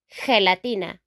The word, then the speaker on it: gelatina: Jelly in English, we say in Spanish, gelatina. Gelatina. Gelatina. Okay? It's not a G sound anymore, it's a H sound.